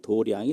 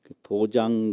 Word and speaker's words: 도량: 길도 짜 읽기 는 도량이 라고 읽어요 이런 불교 한문에 의미 파름 이 많이 있거든요 그 잘 구별해서 해야되요 도장 그러면 불교 모르는 사람이다 이렇게 알거든요 도량 그렇게 읽는게 불교 발음입니다 그리고 도량이 뭐냐 많은